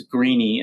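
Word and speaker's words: Grenny: A number of different authors, but I think it's Greeny is the way it would be pronounced, is the first author there.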